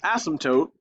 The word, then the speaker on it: asymptote: touch is called an asymptote. Go and write it down right here. Do not touch asymptote. Okay. I'll leave right there. Okay, so again, the asymptote, P is silent, like in pterodactyl.